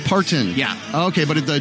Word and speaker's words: Parton: It's like Martin, but with a P. Parton.